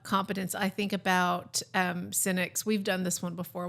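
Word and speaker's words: Sinek: I' I've seen him pronounce it on YouTube. He says cynic.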